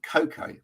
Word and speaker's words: Koko: Emily uh from Germany with a great name Coco is that is that how you pronounce it yes that's how you pronounce it